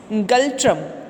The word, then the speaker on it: Ngultrum: Bhutan, it's गल्ट्रम. N is silent, so we will spell it गल्ट्रम.